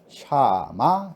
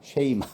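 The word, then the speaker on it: שמע: 샤마, 쉐이마 뭐 히브리어를 우리가 어떻게 발음을 잘하겠어요. 그냥 사전에 나와 있는 대로 하면 샤마라고 하는 단어인데요.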